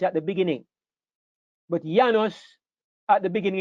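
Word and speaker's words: János: But Janos, at the beginning in Hungary, the J sounds like a Y.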